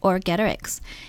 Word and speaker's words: Orgetorix: The first name is Orgetorix. Orgetorix, like a Roman name, does it? By the way, you should make sure you know how to say it, Orgetorix.